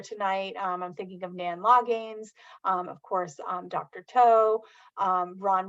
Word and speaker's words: Loggains: It's spelled with a silent A, which is kind of tricky. We'll blame my husband's side of the family on that, but it's like Loggins, and I say as in Loggins and Messina, and my students